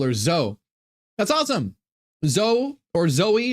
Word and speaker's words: Zoe: and we call her Zoe. That's awesome. Zoe or Zoe is a great name. I mean, you can pronounce. So it's Sophia's daughter. Sophia Zoe is Z-O-E. You could say Zoe or you could say Zoe.